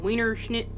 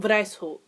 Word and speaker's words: Weishaupt: Adam Wienerschnitt. White. Oh, Lord. Is that German? Wow, it is German. Wow, I should probably fucking know that. So, the founder was actually Adam Weishaupt.